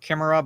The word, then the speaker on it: Chimera: that features K yeah because like there's no CH sound in Greek to be it's chimera i' I've heard it pronounced like Chima but Chimera is a